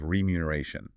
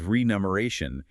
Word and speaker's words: remuneration: It's spelled with an M-R-E-M-U, pronounced remuno, R-A-shun, but I hear people say remuneration constantly. Because the word is entirely about money. And when your brain thinks about money, it immediately associates it with numbers. So people mispronounce it as renumeration as if it shares a root with numeral or numeric.